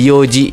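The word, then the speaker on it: 四時: Maka dia empatnya ini bukan pakai yon, tapi pakainya kata yo gitu ya. Jadi yoji gitu ya. Jadi n-nya tuh hilang jadi cuma yoji itu jam .00 gitu ya.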